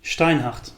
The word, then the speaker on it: Steinhart: steinhardt let's pronounce it correctly so why do so many